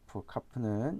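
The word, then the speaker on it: כף: 나중에 이제 읽다 보면은 아 요드가 이렇게 발음이 나는구나 라는 것을 알게 될 겁니다. 다음은 이제 카프입니다. 카프는 이렇게 쓰죠.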